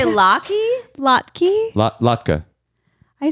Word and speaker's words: latke: Latka. I say Lot Keys. You're incorrect. It's an incorrect pronunciation.